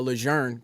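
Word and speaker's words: Lejeune: But but what happened was I fapped to first marine division and I got attached to um a leger camp leger. That's how you say it. It's French.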